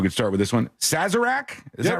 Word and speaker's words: Sazerac: Sazerac? Is that right? No, Sazerac, you nailed it.